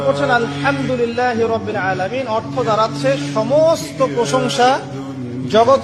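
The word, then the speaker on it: الحمد لله: আপনি পড়ছেন আলহামদুলিল্লাহ শব্দটা কি আলহামদুলিল্লাহ এই হা এর মাখরাজ কোথায় কন্ঠনালীর মাঝখান থেকে এখান থেকে আপনি উচ্চারণ করছেন আলহামদুলিল্লাহি রাব্বিল আলামিন অর্থ দাড়াচ্ছে সমস্ত প্রশংসা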